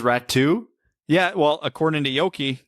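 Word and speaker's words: Räty: That's how you pronounce it. He says Ratu? Yeah, well, according to Yoki, yeah, it's Ratu.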